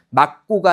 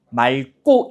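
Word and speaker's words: 맑고: 리을로 발음한다는 규정이 있었으니까 이 막다의 말기라는 게 용언 어간이라는 것만 인지하면 여기서 4번은요. 막고가 아니라 뭐라고 발음해야 돼요? 말고 이렇게 발음을 해야 되는 거죠.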